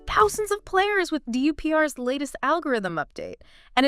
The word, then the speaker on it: DUPR: And DUPR dynamic universal pickle ball rating. I mean it's basically become the global standard. It rhymes with super which is kind of catchy, right?